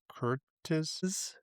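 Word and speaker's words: Curtiz: So, the director, Michael Curt Curtis.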